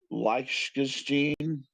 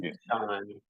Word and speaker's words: Liechtenstein: LCX stands for Liechtenstein Crypto Assets Exchange.